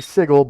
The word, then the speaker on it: sigil: works and all that I know it's supposed to be sigle but I hate that pronunciation it makes my skin crawl to hear when people say sigle even in the game like in in a planescape tournament when they say sigle I'm like no um